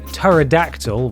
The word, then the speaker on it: pterodactyl: and utterly bonkers the pterodactyl with a silent p by the way achievement